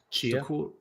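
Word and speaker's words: Tchia: How you pronounce that little girl's name? Chia.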